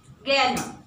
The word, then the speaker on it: gerne: Gerne. Yeah? Say it after me, gerne. Gerne. Yeah? It should be properly with an E. The pronunciation of E is A.